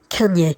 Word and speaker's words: Cagnes: Cagnes, I think, is more like the French pronunciation, like the singer that you might have your own opinion on with the overexposed girlfriend.